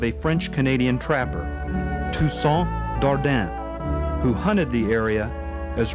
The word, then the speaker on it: Dardenne: french canadian trapper toussaint dardan who hunted the area as early as 1747. the english in characteristic fashion butchered the french darda reducing it by swallowing the sound to darden or darden in 1769 louis blanchette